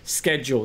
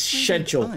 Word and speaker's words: schedule: identifiably british accent and he used the word schedule this is incorrect this is an american word the correct british pronunciation is scheduled i've done a comedy routine about this it's